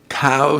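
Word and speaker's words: Caux: large derelict hotel in cow switzerland is that how you pronounce that co cow c-a-u-x co co okay and that's still one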